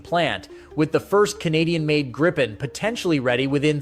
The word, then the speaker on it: Gripen: It's Gripen and it's Bombardier.